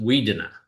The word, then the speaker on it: Wudinna: the town was called Woodinna, and Wudinna. And to just digress a little bit, that's not the Aboriginal spelling of it. They would pronounce it Weedinna, but some bureaucrat got